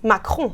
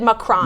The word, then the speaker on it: Macron: How do you pronounce his name? Well, really, it's Macron. Macron. Emmanuel Macron. But Americans have accepted Macron.